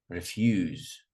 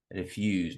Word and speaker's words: refuse: Refuse. Refuse, not refuse. Refuse.